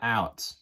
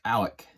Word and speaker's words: Alec: So starting at catcher, it's going to be probably Alec Jones, which is not Alex. It's Alec, A-L-E-C, Alec Jones.